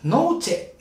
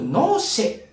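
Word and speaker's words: noche: ねそしてこれ月ノーチェなんですがこれアンデルシェア弁ではよくノーシェってねチェではなくてシート発音したりしますでこれ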